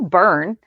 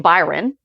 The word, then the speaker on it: Byrne: It's Neil Byrne. I kept saying Byron. Oh, I totally And you didn't correct me, and I didn't catch it. I was consistently saying it incorrectly.